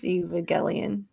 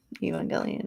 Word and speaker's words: Evangelion: Evalion. Evangelion. There you go. You said it right.